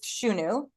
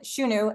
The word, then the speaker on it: Shunu: So So that's the company's Shunu and Shunu. S hu n u um is how we pronounce it.